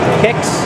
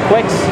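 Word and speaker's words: Qix: Kicks, or Quicks, however you like to pronounce it. It is on the flyer, it's Get Your Kicks, Q-I-X.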